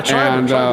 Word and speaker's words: Triberr: got coming for influence from Triberr, or you pronounce it correctly for me. Yeah, Triberr, that's right.